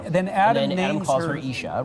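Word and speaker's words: איש: It's ish, which is spelled Aleph Yud Shin.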